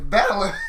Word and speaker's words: Balor: It's Balor.